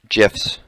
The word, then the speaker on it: GIF: Also, you guys can create excellent GIFs. It is GIF, by the way. The creator said it's pronounced GIF. It's not GIF.